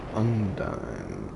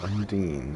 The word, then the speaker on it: Undine: Okay, so now we got Undine, or Undine, however you prefer to pronounce it.